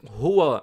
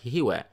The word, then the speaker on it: هُوَ: huwa, the next word, qul huwa, huwa, not hiwa, hiwa, hiwa is incorrect. And it's also not owa, owa, no. Ha is like the ha sound, this comes from the deep throat, which is closer to the chest.